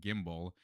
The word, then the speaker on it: gimble: Pronounce sy as if it were the two words sly the make the g hard as in gy and gimble.